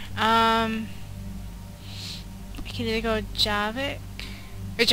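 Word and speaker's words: Javik: I can either go javic which apparently I've been saying his name wrong is javic I guess or I could go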